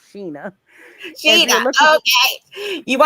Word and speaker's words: Shana: Shana, which is SHANAGOURDINE, because my name is spelled like Shayna, but it is Yeah. pronounced Sheena.